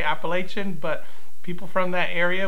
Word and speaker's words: Appalachian: And that, you know, people that are not from the South will tend to pronounce it Appalachian, which I think I did. And he corrected me and said that it's pronounced Appalachian.